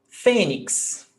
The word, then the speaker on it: fênix: Fênix, paroxítona, the stressed syllable before last, termina em X, então, acento.